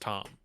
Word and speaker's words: Tam: Tom with an a is it pronounce Tam that no it's pronounced Tom like that well it's it's like